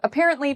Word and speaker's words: apparently: So for apparently, the second syllable is what we say with emphasis. So it's the part we say louder and longer.